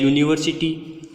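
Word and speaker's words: university: उसी प्रकार से ए यूनिवर्सिटी, इस एग्जाम्पल में हम देखें कि फर्स्ट लेटर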